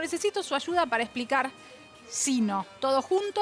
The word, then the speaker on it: sino: El sino, el que va todo junto, es el menos usado. Sino, se escribe todo junto y se pronuncia sino, con el acento en la i, teóricamente un acento prosódico.